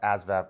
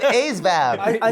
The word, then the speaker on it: ASVAB: And I was just like, "Wait, you don't even know how to pronounce Asvab correctly." Who? Who? You. You said Avab. You're going to get smoked. I I said that ASVAB. You got to pronounce the test correctly first.